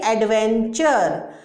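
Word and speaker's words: adventure: TUR की आवाज़ होती है चर, जैसे एडवेंचर, एडवेंचर।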